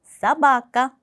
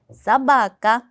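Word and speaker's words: собака: 여기 쓸 때는 쏘바까라고 쓰지만 강세가 오 알파벳이 아닌 뒤에 아 알파벳에 있어요. 때문에이 앞에 있는 알파벳 오는 아 발음으로 사바까 사바까 마로네 마찬가지도 여기 알파벳 노가 정말 많이 있죠.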